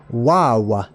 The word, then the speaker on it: Vav: here VAV over here you can say the see the pronunciation wow so this letter is our word wow it is an exclamation point basically so we'll explain that here in just a minute um you can see it's got different pronunciations from V like a v as in Vine or a w as in wine it all depends on the accent and the dialects as they changed over time uh over here uh